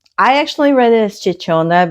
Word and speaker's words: Ciccone: Um I actually read it as Chichona because that's the standard Italian pronunciation. She says the Chichony.